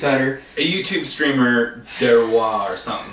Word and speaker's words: Deroir: A YouTube streamer, Derwa or something like. I don't know how exactly how to say his name, but DEROIR. I just Derwa like Noir.